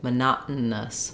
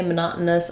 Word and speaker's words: monotonous: these sounds um but it's kind of helpful to think of it as the middle syllable being just the the N sound so monot with the stop T monot monotonous um and finally at